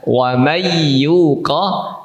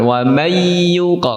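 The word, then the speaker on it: وَمَن يُوقَ: Jadi, pembacaan "wam yuqo" harus disertai dengan suara itu; "wam yuqo", bukan "wamay yuqo".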